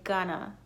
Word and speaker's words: gonna: It is going to, but a lot of times Americans tend to say gonna. I'm gonna tear my hair out.